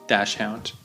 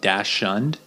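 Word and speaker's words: dachshund: a important word there the uh dash dash hound because it when you look at it it looks like Dash shund and maybe they do call it that in German or another language I'm not sure but in English it's usually pronounced dash hound and the funny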